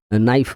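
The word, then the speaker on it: knife: নাইফ মানে ছুরি। এখানে কি এটা সাইলেন্ট ওটা, যদি সাইলেন্ট এটা জানতে চাও আমার ওইটা ভিডিও পাওয়া যাবে, ঠিক আছে।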